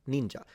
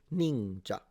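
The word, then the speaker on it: 忍者: because your pronunciation yeah that's how it's pronounced ninja and it's a falling pitch ninja ninja instead samurai samurai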